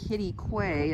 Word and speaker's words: Quitaque: state park is called kitty quay spelled like quit a q but it's pronounced kitty quay as what i've learned and that also has